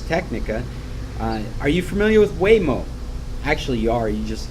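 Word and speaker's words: Waymo: morning on ARS technica are you familiar with way mo actually you are you just not familiar with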